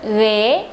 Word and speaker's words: ghế: Its example is in the word ghế, ghế, ghế.